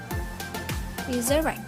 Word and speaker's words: resurrect: First, for the simple verbs, if final syllable is strong, it will receive primary stress. For example, entertain, resurrect. We see that the final syllable of entertain and resurrect